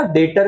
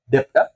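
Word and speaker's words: debt: जाती है पता है अगेन बी साइलेंट क्या कहा जाता है बैड डेट नॉट डेप्ट बैड डेट बैड डेट्स मतलब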